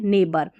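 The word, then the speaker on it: neighbour: यहां पर देखिए नेबर अब ये जो जी एच है ये साइलेंट है। ठीक है? जी एच का उच्चारण नहीं है।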